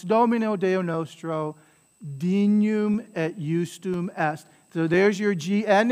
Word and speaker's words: justum: So there's that J sound, the use, that I being used as an I, as a J sound, as a consonant, right?